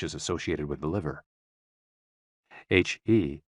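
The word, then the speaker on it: hē: HE, pronounced like her, with a yawn, which is associated with the heart.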